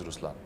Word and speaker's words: Ruslaan: So even in Ruslaan, when you say Ruslaan also means the lion, it's the attitude of a lion, but the right pronunciation is Ruslaan.